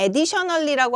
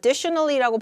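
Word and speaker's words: additionally: 나오는데요 얘 발음 주의하실게요 얘 에디셔널이라고 하시면 안 되고 dictionally라고 발음해 주세요 그래서 추가적으로 게다가 I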